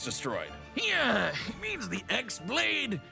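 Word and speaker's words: χ-blade: yeah he means the x-blade it's just pronounced like keyblade even yes just one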